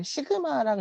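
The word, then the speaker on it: σ: 자, 그러니까 저항의 역수는 컨덕턴스고, 자, 이 로우 고유 저항의 역수는 요거 전도율 이거를 뭐라 그래? 시그마라고 읽어요. 시그마.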